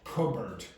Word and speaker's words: cupboard: Cupboard. The P is not pronounced.